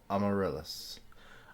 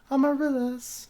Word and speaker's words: Amarillis: Osmodius Amarillis. Amarillis. I mispronounced it the first time.